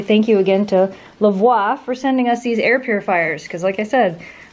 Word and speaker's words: Lavoie: I say it wow Lavoie that's it like like au revoir yeah we're over LA